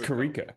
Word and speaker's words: Kiriko: It's Kiriko.